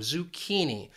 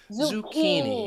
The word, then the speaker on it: zucchini: And that's where it confuses people because of this spelling. That C-C-H-I just has that key sound, zucchini. Zucchini.